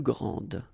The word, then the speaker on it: grande: And regarding the feminine form, you will pronounce it grande. Okay, don't insist on the final E, but then pronounce this D, grande, and then exactly the same pronunciation, grande.